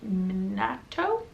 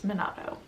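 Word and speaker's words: Minato: is confessions by kenne minatto i remembered i said it wrong in my tbr so it's monado this was such a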